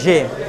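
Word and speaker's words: ژ: এরপরে তারপর দেখেন সিন, দেখেন জে উচ্চারণ করার সময় জিহ্বার দিকে খেয়াল রাখবেন, জিহ্বার মাথাটা মাঝখানে পেটটা একটু ফুলে উপরে উঠবে, জে, জে। আপনারা দেখেন জিহ্বাটাকে ফুলাই ফেললে উচ্চারণ হবে নিজে নিজে। আমার সাউন্ডটা খেয়াল করবেন, দেখবেন জিহ্বা অটোমেটিক ফুলতেছে, জে।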